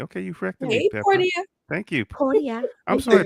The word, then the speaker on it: Portia: Is that how you pronounce Portia? It's Portia.